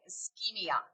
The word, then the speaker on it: ischemia: This SCH is pronounced like a K, ischemia.